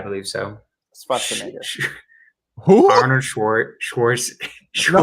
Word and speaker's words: Schwarzenegger: You think the Austrians say Schwartz? They don't say Schwartz. It's Schwarzenegger. There you go.